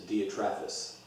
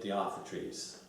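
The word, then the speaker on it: Diotrephes: refer to a my I pronounce his name is dia Travis some will say the otha trees but I sadya Travis same guy in verses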